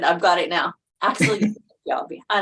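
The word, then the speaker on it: Fjällby: When he first started with the Jets, I didn't know how to pronounce his name. So, but I've got it now. Axel Fjallby.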